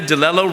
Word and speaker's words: DeLello: leader of the Year delello rhymes with Jello Morton that